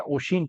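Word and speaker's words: ocean: The ship got ड्राउन्ड इन द ओशियन, ओशिन, ओशियन पढ़ो या ओशिन पढ़ो, ओशिन इसका करेक्ट प्रोनाउंसिएशन है।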